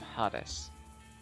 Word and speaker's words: Hades: and built to touch the nethermost cavities of Hades. I know it's Hades. I wanted to mispronounce it.